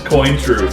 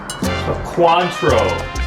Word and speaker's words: Cointreau: How do you think you pronounce it? It's Cointreau for sure. Cointreau is what it's called.